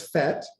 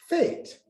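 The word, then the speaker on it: fête: Now, fete is a word that can be pronounced in the US as fete or in the UK as fate.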